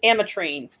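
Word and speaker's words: Ametrine: else and it's like I said it's Amrine it's combination of amethyst and citrine and on the 21st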